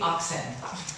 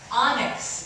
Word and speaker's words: onyx: "Okay, you can be oxen." I say, "No, onyx. It's spelled O-N-Y-X. So she tries it out, onyx. "Okay, you can be onyx."